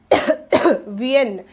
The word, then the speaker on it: viennent: इल-एल-वी-एन, इल-एल-वी sorry VIENNENT, वीएन। इसे हम क्या पढ़ेंगे? वीएन। ENT साइलेंट होता है एज यूजुअल।